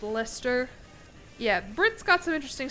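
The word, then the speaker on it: Leicester: Nothing will ever top that being pronounced as Lester.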